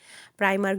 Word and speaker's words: Primark: যাই হোক আমি প্রাইমার্ক বলি চেষ্টা করি আর কি বাংলাদেশের মানুষ বলবে আবার প্রাইমাররে প্রিমার্ক বলতেছে তো ফ্রান্সে আসলে আইটাকে ই বলে উচ্চারণ করে তারপর এখান দিয়ে যাচ্ছিলাম